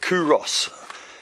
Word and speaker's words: Culross: around the village of kuros c-u-l-r but you don't pronounce the l and we decided we